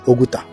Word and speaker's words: Oguta: I am right here in Oguta. You can pronounce it as Oguta.